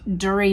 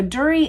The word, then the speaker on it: Durie: Rumors come out that there was a first marriage that was not Jackie, named Durie Malcolm, and that it had been listed in the family genealogy.